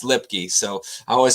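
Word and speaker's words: Luepke: wrong it's lipkey that's lipstick it's lipkey it's pronounced lipkey so I always say loopy but yeah I guess it's us anyway but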